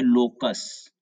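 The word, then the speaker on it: loci: फिर है यहां पर लोकस लोकस का हिंदी होता है मैथ में बोले तो केंद्रक समान भाषा में बोले तो ठिकाना और इसका इसका उच्चारण होता है लोकी समझ रहे हैं आप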